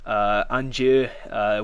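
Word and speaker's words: inniu: Anju, we covered the DI thing already. The slender vowels change the D's to J's, and the GH isn't pronounced because it's at the end.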